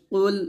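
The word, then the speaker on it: قُلْ: উচ্চারণ করা যাবে না কফটা মোটা উচ্চারণ করবে কফ লাম পেশ কুল এরকম হামজাহ জবর আইন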